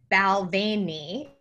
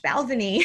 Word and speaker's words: Balvenie: So I did an Instagram story and I said, oh, thank you so much, Balvenie, for, you know, these samples. And by the way, it is spelled like the way it looks.